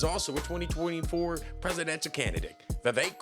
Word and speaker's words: Vivek: And this first peddler is also a 2024 presidential candidate, Vivek Ramaswamy. Rhymes with cake.